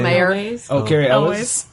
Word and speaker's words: Elwes: Oh, Carrie Ellis. Elwes.